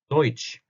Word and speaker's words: Deutsch: Deutsch. 좀 더 알아보기 쉽게 써드릴게요. 자, Deutsch를 쓸 때도 D, E, U, T, S, C, 이렇게 쓰죠. 그래서 Deutsch. 이것도 E, U죠. 오이라고 읽었죠.